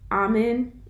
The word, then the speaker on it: Amen: say definitely check out dr ahman is how you say his name is pronoun it's spelled amen but dr ahman he's done a lot